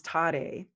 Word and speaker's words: Tare: And so the Tara becomes Tare in the mantra. Om Tare Tutara Tuture Soha. I've added an extra syllable in there that actually captures energy and sort of amplifies it.